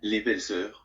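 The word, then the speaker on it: Les Belles-sœurs: This is how you actually pronounce it. Les Belles Sœurs.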